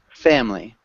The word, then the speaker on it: family: that and then family we actually don't pronounce the i in the middle families close family family family family family